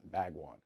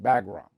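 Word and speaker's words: Bagram: we could have kept bagwan all right bagwan saying it wrong could have kept our air base right bagron uh which I actually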